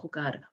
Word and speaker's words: jugar: So jugar, we've got juego, juegas, juega, jugamos, jugáis, and juegan. Remember that j sounding right from the back of the throat.